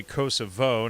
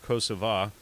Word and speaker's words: Kosovo: doing in kosovo and i say kosovo now not you know i do not honor the albanian pronunciation of kosova but uh is you